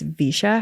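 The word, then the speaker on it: VEISHEA: And it's spelled, let's see, V E I S H E A. Oh, definitely. I haven't heard of that. The spelling is that threw me way off.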